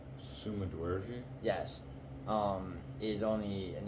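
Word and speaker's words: Sumudaerji: now um his opponent uh whose name is pronounced Summa D yes um is only an inch shorter at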